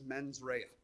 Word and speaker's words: mens rea: to butcher this, but I believe it's pronounced as mens rea, which means malicious intent.